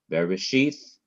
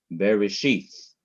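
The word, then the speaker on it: בראשית: 1, Bereshith, bara, Elohim, on each of the last syllables of these words, you have different accent marks, indicating that the last syllable of each word is to be stressed or emphasized. Bereshith, bara, Elohim.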